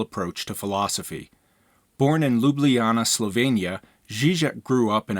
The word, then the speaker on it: Ljubljana: just a couple of pronunciation notes his name is pronounced slavoy Zizek and the city that he's from is pronounced Ljubljana Zizek has been influenced by